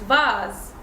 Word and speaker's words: vase: S is gonna be pronounced Z when it's between vowels. So here it's between A and E, so it's gonna be pronounced Z. So the word is vase.